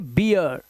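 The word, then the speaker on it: beer: अब देखो यहां पर, अब इसे बीर नहीं पढ़ सकते, अब इसे पढ़ेंगे बियर, डियर, चीयर, स्टीयर, जियर, ऐसे ही इंजीनियर, है ना, वॉलंटियर, स्नीयर, पाइनियर और करियर।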